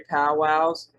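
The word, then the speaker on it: pauwau: The term, originally pronounced, is powwow, meaning gathering of medicine men and spiritual leaders in a curing ceremony. So that was the original meaning, and the word was this here, P-A-U-W-A-U, and it meant gathering of medicine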